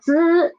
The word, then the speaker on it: 滋: For 滋, the air is soft.